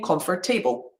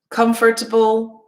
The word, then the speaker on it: comfortable: make sure that you are not saying comfort table or vegetable or lafabel so all of these should be able comfortable vegetable laughable okay another little um